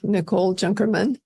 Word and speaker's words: Nicole Junkerman: excited today to have a very special guest Nicole junkerman and did I pronounce that correctly you did oh good I